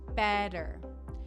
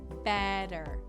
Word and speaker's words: better: where the T differs when there are two T's next to each other you'll often hear it pronounced as if it were a d better sometimes you can hear